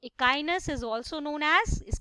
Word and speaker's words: Echinus: ये स्पेलिंग से आइडिया नहीं लगाना है, याद करेंगे इसको, दैट इकाइनो इकाइनो, डोंट डू दैट।